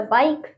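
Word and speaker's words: bike: Next हमारा बाइक। बाइक की तो नहीं पढ़ेंगे, बाइक, क्योंकि लास्ट में ई है तो वो साइलेंट रहेगा, बाइक।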